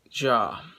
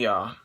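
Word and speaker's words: Tony Jaa: was played by tony jaw uh i think his last name would actually be pronounced yeah so she meets the hunter who is played by tony yaw and she teams up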